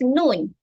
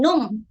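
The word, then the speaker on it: نون: huruf tersebut contohnya huruf nun Lejel huruf nun Nyun Wow yay bukan Numb tetapi Nun untuk ruko ejaan yang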